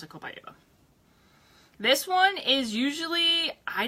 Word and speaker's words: copaiba: I pronounce it Copaiba.